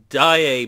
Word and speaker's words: Diet: video on my national dye a building build so it's pronounced dye a building but it's spelt like diet building so that's why it's spelt like that I don't know it's